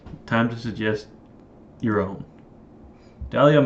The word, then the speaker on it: Dahlia: Dahlia's most mysterious and alluring trait is the silent H in her name.